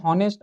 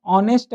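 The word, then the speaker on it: honest: Word लिखा हुआ है हॉनेस्ट, अब हॉनेस्ट को हम लोग ऑनेस्ट बोलते हैं, समझ रहे हो?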